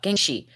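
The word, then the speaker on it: jiangshi: like they're called I'm G to try to pronounce it properly J Jen she she yeah Jang g g she there we go Gen shei so also known as the Chinese topping vampire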